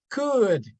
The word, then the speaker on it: could: ohm okay very good this one cool exactly could c u d without the o or D